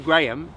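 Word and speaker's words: Graeme: My name, Graham, is spelt for some reason G-R-A-E-M-E. For some reason. That's Graham. That's not Graham, which is English, G-R-A-H-A-M. It's Graham.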